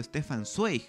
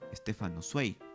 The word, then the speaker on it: Stefan Zweig: referencia a este nombre no deberías pronunciarlo stefan zweig bien debería estar tarde imitar la fonética alemana y decir estefan o mucho mejor adaptarlo español como stefan zweig y por último lo